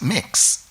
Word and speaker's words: Mx: MX is instead of Ms. and is pronounced mix.